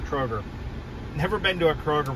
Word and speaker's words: Kroger: example grocery stores they have what's called the crodger i think so i think that's how it's pronounced before you guys correct me i know it's pronounced kroger never been to a kroger before so we